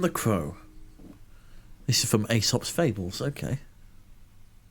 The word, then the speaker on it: Aesop: Aesop? Aesop. Yes, it's Aesop, because Greek, you pronounce the second vowel in those... in a vowel couplet, you always pronounce the second one as like a hard E.